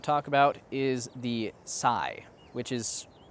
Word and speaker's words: Tzai: The next bit of magic I want to talk about is the Sai, which is spelled really weird, but in the audiobook it's pronounced like Sai.